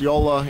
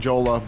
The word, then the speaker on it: Jolla: Yola is the right name. Yola or Jala because it's in Finland it's pronounced Yola. In the rest of the world, we're we're typically calling Jola, but either one works for me.